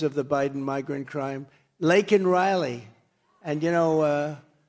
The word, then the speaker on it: Laken Riley: Laken Riley. And, you know, Biden was unable to pronounce her name. Called her Lincoln Riley.